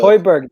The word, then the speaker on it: Højbjerg: Hoiberg. Højbjerg.